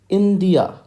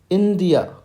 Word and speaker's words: India: the phonetic spelling is i n okay you have to emphasize on this d e e D and then a h r so friends how is this letter I spoken in phonetics it is pronounced as India India India so friends I hope